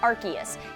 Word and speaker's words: Arceus: episode of the de it was confirmed that the current official pronunciation is archus it right so